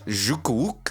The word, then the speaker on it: Nchukwu: We got Kennedy Nchukwu. And silent, it's Jukwuk. Oh yeah, Jukwuk. Nchukwu. Jukwuk.